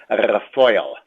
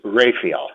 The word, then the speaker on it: Raphael: My Yiddish pronunciation is Raphael. My English pronunciation is Raphael.